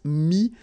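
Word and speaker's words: mis: Mi, same advice here, don't pronounce the final S like we had here. T is not pronounced, S is not pronounced.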